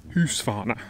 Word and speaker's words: Husqvarna: Husqvarna. How do you actually pronounce it? Can someone tell me? I get comments all the time. Husqvarna, it's not Husqvarna, it's Husqvarna.